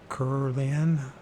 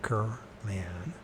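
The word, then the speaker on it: Kirlian: Semyon Kurlian, that's how to pronounce it right, Kurlian, a Soviet electronics engineer, found he could photograph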